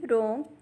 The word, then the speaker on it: rong: The next Pinyin is RONG, has a pronunciation of wrong. Repeat after me, wrong.